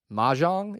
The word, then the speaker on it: mahjong: Believe it or not, Mahjong is how you say it, on the Plains is coming via On to Victory.